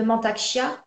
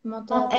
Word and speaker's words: Mantak Chia: sûr les livres de Mantak Chia, qui est le maître incontesté du Tao actuellement depuis des décennies. Mantak ok. Ça Chia, s'écrit comment, Mantaksha? M-A-N-T-A-K, M-A-N-T-A-K, Chia, comme les graines de chia, C-H-I-A.